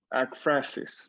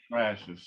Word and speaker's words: Ekphrasis: Am I pronouncing it correctly? Is it Ekphrasis? Ekphrasis, right. Ekphrasis.